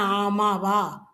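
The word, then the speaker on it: आम: அப்போ என்ன, ஆமாவா, மா கிடையாது, ஆமாவா இல்லை, ஆம். உச்சரிக்கும் பொழுது ஆம்.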